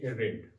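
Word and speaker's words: read: और इसकी second form रीड का रीड होगा। ही रेड रेड वह पढ़ता था। सेकंड फॉर्म में रीड का उच्चारण रेड होता है।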